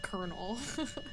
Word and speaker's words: colonel: Colonel. Yeah. No, that one gets even me. That one gets me, too. Yeah. Like, why is it pronounced kernel?